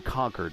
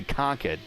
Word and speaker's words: Concord: uncle that live in conquer or is they say ConEd uh there ConEd uh and uh they are about 20 minutes from the track it's funny Charlotte mother's fway the southerners Charlotte Motor Speedway is in Concord Concord Concord yeah yeah he's not conqu well you there's a